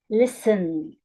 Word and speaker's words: listen: Example, listen. The first syllable is stressed.